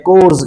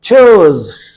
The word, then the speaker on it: chores: अक्सर औकात हमें इसे प्रोनाउंसिएशन जो देते हैं वो गलत देते हैं, कोर्स कहते हैं, जो कि गलत है। इसकी ब्रिटिश प्रोनाउंसिएशन है चोज।